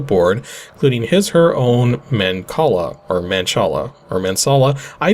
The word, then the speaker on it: mancala: pronounce this word okay the c is a k sound so mancala okay so yeah i just looked it up because it was but it was bugging me because it's so many ways so many ways you could pronounce that but it's man call up so that's the way